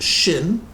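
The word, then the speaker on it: שִׁין: the the the one the first letter has the dot on the right and it's pronounced shin and the second one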